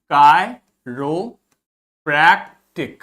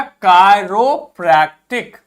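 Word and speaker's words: chiropractic: जब भी आई के ऊपर आपको इस प्रकार से कैप लगी दिखेगी तो इसका प्रोनाउंसिएशन आई होगा, और जब कोई कैप नहीं लगी दिखेगी तो उसका प्रोनाउंसिएशन ई होगा।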